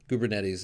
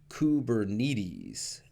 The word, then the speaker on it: Kubernetes: you want to use so again kubernetes is is going to be your answer there now there's one expression or one pronunciation that that I've heard that of course is you know a little bit different by our own Duffy Cooley and that's kubernetes now I can honestly say I don't think I've heard anybody other than Duffy really pronounce it commonly this way but Duffy